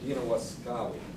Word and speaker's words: Dina Waskawi: And Dina Waskawi is kind of how you pronounce it in Cherokee.